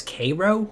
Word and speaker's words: Cairo: Which they pronounce Cairo.